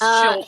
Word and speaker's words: Schulte: I think it's Schulte. He says E. 2 syllables. Schulte.